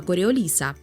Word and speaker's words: Коріоліса: Колись в старенькому відео про силу Коріоліса я спеціально наголосила про те, що це французьке прізвище і правильний наголос на другу літеру і.